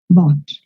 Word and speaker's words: bought: Dejo la boca muy abierta y se pronuncia más abajo en la garganta.